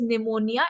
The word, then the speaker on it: pneumonia: So basically it is pneumonia. It starts from PP is silent, right?